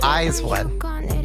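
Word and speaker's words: IZ*ONE: By the way, Virginia, it's Eyes One. Oh, is it Eyes One? Jun Soyeon. I'm sorry. School us on pronunciation, Peter.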